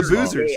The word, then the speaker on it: Boozer: So, so it was all the So, it's the Boozers. I will say because as I've been saying all year, Boozer rhymes with loser.